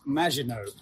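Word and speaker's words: Maginot: It's pronounced Majinino as in the Majino line.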